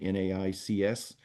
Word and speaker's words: NAICS: Again, go back to that NAICS code, NAICS. It's spelled differently than we pronounce it, but it's NAICS codes.